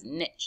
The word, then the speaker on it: niche: The first vocab word we're going to talk about is niche, sometimes pronounced as niche.